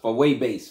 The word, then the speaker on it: Fuego Base: You pronounce it Fuego bass, right? They say Fuego, but it's far away bass, and it's in Spanish. It means fire.